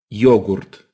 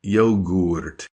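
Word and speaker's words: йогурт: we say yogurt and in Russian it's yogurt with that deep you sound yogurt yogurt and that second one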